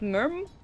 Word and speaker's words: MYRM: to come in for someone corrected me again so it is pronounced Merm oh God this is